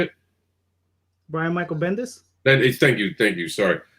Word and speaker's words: Bendis: i mean we just saw brian uh uh brandis is that how you say it brian michael bendis thank you thank you sorry yeah bendis thank